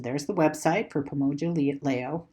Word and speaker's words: Leo: So there's the website for Pomoja Leo. It's pronounced Leo. I keep saying Leo.